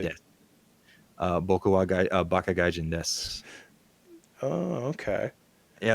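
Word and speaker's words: です: Uh, you're rarely ever going to pronounce the U at the end of stuff. Oh, So, really? des. Boku wa baka gaijin desu.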